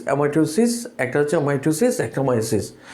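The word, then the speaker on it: meiosis: এরপর হচ্ছে মিউসিস, অনেকে উচ্চারণ করে, আসলে মিউসিস না, এটাকে মায়োসিস। তোমার উচ্চারণের মধ্যে অনেক পার্থক্য নিয়ে আসছে বেশ কয়েক বছর আগে।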